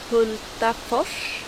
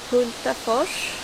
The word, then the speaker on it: Hultafors: trangia trangia there is a knife maker call hultafors hultafors part maybe hultta for we also have haglöfs